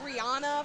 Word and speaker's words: Rihanna: Is that like when I said Rihanna for a thousand years, then she went on an interview and she's like, "It's Rihanna."